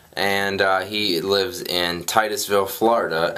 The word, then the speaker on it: Titusville: So, another Andrew sent us a letter and uh he lives in Titusville, Florida. And of course, Gray read the name wrong. And what did you call it? I didn't call Tittisville.